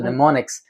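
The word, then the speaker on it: mnemonics: technique is called as pneumonics yes uh it's spelled m n e m o n i CS doesn't start with the letter N it starts with the letter M so neonics so neonics in simpler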